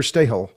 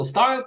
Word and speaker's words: Stahel: guest and a new acquaintance of mine, Alexander Stahel. He is the CIO of Bergraben Holding. He is in Zug, Switzerland. Now, have I pronounced your name correctly there, Alex? You did perfect. Stahel.